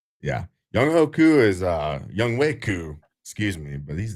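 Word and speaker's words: Younghoe Koo: It's definitely spelled Young Ho Koo. Okay. But, in Korean pronunciation is Young Wei.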